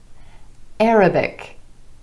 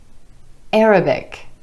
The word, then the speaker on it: Arabic: We have politics, politics, rhetoric, rhetoric, Arabic, Arabic, and lunatic, lunatic. In each of these examples, the stress falls on the first syllable in the word instead of the syllable right before the ik ending.